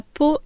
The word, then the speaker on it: pot: Vous verrez qu'en français beaucoup de lettres finales ne se prononcent pas. Nous l'avons vu précédemment avec son et nous le voyons ici avec P.